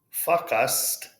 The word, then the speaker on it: focused: It's not focused or fuck us. It's a long O.